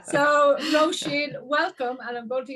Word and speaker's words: Roisin: And in case you can't pronounce her name, it's Roisin Bennet, all the way from Ireland.